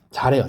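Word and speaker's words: 座: 이 발음이 자래요. 자. 그 한국 발음으로는 좌인데 자로 알아주시면 돼요.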